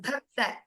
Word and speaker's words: Bhakta: Bhakta. Bhakta. Yes, like how you pronounced Bhanave, the same Bha occurs in Bhakta also.